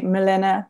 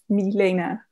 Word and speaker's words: Milena: The E is really difficult for people. Like people say Milena, Milena, but it's E, like from your throat. Milena.